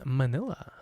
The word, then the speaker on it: Manila: And the densest city in the world is Manila. Rhymes with my favorite flavor, vanilla.